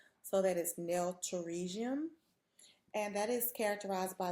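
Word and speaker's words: pterygium: And then lastly on this slide we have nailium. The P is silent. So that is nailium and that is characterized by the abnormal stretching of the eponychium or the hyponychium surrounding the nail plate.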